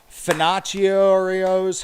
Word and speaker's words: Finocchio's: Finocchio's Hobby Outlet. He is I-18. Finocchio's Hobby Outlet. That's it. It's spelled like Pinocchio.